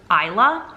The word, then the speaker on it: Isla: oh I figured out I was saying the name wrong the S is silent I guess so it's Isla finds out you know